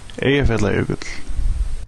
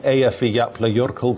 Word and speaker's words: Eyjafjallajökull: На самом деле вулкан называется Эйяфьятлайокудль. Однако журналисты произносят это так. Underneath the Eyjafjallajökull glacier.